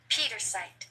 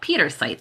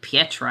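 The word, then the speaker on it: Pietersite: Pietrosite. Oh, Pietrosite. That one's easy. I thought it was like Pietra. I was making it fancy. Pietrosite.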